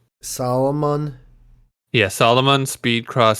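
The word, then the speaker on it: Salomon: Well, how do you pronounce it? What kind of shoe is it? It's a Solomon.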